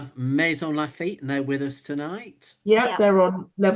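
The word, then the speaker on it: Maisons-Laffitte: Um Mazons Lafit is that correct? Am I saying it correctly? Mason Lafit and they're with us tonight.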